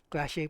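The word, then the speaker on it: Klaasje: Clash A. Clash A pala yung pronunciation.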